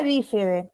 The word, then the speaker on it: bífide: Que se denomina bífide. ¿Escucharon alguna vez la palabra bífide? ¿Con B corta? Con B larga o B alta y acento en la primera I. La palabra bífide, ¿la escucharon alguna vez?